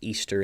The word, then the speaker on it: Ishtar: uh ashura astate um ishtar which would actually be pronounced easter in the original language uh those are different